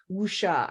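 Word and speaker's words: wuxia: centuries-old asian genre now i'm used to hearing it being called wusha i think did i pronounce that almost okay absolutely you has written three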